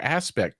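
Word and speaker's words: ASPEQT: the year before that, released your aspect tool, and that's ASP EQT. When you spell it, you have to really Yeah. emphasize the Yeah. EQ, because that's what it is, right?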